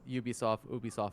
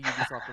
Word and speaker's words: Ubisoft: not an Ubisoft original, because U has a hard Y sound. That's why it's a Ubisoft original.